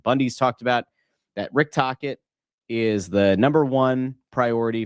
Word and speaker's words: Tocchet: of the week, and the name happens to rhyme with rocket. I think it's going to be a hated hire. We'll get there in a second. Jay Grabby says, Russ, tell me Tocchet isn't the guy.